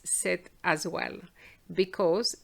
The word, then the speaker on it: cette: you're going to put set which has exactly the same pronunciation as seven so let's see how